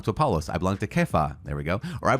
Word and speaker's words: Kepha: But Kepha sounds actually more close to what it would be called in Hebrew or Aramaic, in those Mediterranean languages. And actually, there's an argument the pronunciation is Kepha.